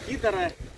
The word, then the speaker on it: Kitter: Карабин Китера. Карабин Китер. Китер. Карабин Кита. Кита или Китер? Ну, R не читается, Китер.